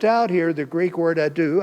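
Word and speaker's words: ἰδού: They left out here the Greek word ado, I-D-O-U. See, I didn't spell that one for you.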